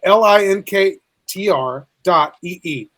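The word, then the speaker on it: linktr.ee: tree so it's spelled l-i-n-k-t-r dot e-e so it's link tree but you put the period between in the middle of the word tree so it's linked link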